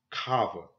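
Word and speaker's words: חַוָּה: the name Eve was translated from but you pronounce this cava not Eve Eve actually comes from the Greek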